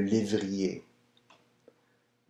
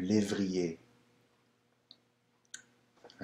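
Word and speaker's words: lévrier: a right so the Greyhound nothing like the pronunciation in French blue livery a new livery a right number seven lucetti and I believe if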